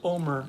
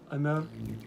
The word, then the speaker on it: Omer: That is, the amount or measurement of an Aimer, or Omer, as it's commonly pronounced by Masoretic pronunciation. Ayin Mem Rash Aimer is how I pronounce it.